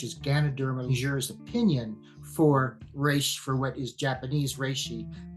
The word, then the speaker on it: reishi: This is I'm going to mispronounce it, but the reishi. Yes, reishi.